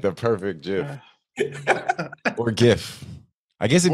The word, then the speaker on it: GIF: It's a and it's a GIF because it's Christmas, so we're gonna go with the hard G.